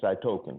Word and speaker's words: cytokine: around to doing that it spelled C Y T oh-kay I've in E so I token I just say cytokine have you ever heard